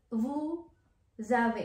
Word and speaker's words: vous avez: And then vous avez, magiging Z na po yung bigkas.